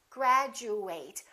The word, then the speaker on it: graduate: of word it is if it's a verb we fully pronounce eight and it kind of sounds like the number eight graduate i would like to